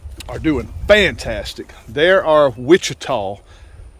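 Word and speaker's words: Ouachita: doing fantastic there are Wichita I think it's pronounced wichita's o-u-c-h i t a w I believe something like that uh but I pronounce them Wichita and they're doing fantastic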